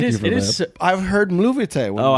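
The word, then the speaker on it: Mluvíte: It's not Bluvite. Mluvite with an M. Movite. Mluvite Bluvite.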